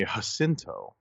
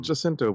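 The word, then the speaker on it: Jacinto: I just heard this Manny hinto not jinto but hinto um even though he's been pronouncing it jinto you know throughout the good place and all that but apparently he's changed it up because you know Colonial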